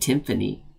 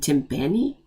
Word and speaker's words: timpani: I was right about I said I said Tiffany I spelled I said it wrong funny and timpani right Tiffany is the big one's on the